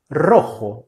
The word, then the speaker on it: rojo: E a pronúncia, quando o R começa uma palavra, a pronúncia é sempre vibrante, com R vibrante. Então você vai sempre falar assim: R, com a língua tocando os dentes superiores muito rapidamente. R ro rro. Rojo.